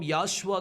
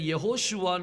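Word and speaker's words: Yehoshua: ஒன்பது எக்ஸாம்பிள் நம்ம பார்த்துட்டோம் சோ கர்த்தருடைய நாமம் யாஷுவா கிடையாது அது சொல்லி உச்சரிக்கணும் அதை பொதுவா என்ன சொல்லுவாங்கன்னா அந்த நடுவுல இருக்கிற வாவ் வந்து சைலெண்ட் அப்படின்னு சொல்லி சொல்லுவாங்க ஆனா கிராமர் படி வாவ் வந்து சைலெண்ட் கிடையாது அதை நீங்க உச்சரிச்சு தான் ஆகணும் அதனாலதான் அவருடைய பெயர் யெகோஷுவான்னு சொல்லி இருக்குது சோ இது உங்களுக்கு நல்லா புரிஞ்சிருக்கும்னு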